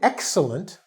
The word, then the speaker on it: excellent: cool all right but if we look at excellent we do say this is excellent work we see the x first similar to x-men where we really put the stress on the first part so the first syllable is stressed so you have excellent